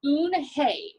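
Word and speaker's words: Unhei: the little girl's name in this book is un hey and it means grace so we'll find that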